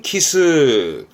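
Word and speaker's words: 奇数: 숫자의 수, 기수라는 게 기하다 보니 짝이 없다, 혼자 있는 홀수를 키스합니다. 발음은 키스.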